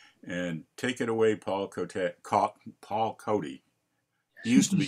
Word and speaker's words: Cote: Because you and I have been pronouncing it C-O-D-Y, and that's sort of a New England accent. Close enough. Whenever people get confused, I just say think like Wild Bill or Buffalo Bill.